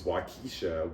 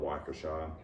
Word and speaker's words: Waukesha: The first one is Waukesha, Wisconsin. Although most people there call it Waukesha, I see it and I say Waukesha in my head and I just can't undo it.